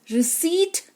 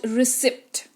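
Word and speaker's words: receipt: You should read this रिसीप्ट नॉट रिसीप्ट।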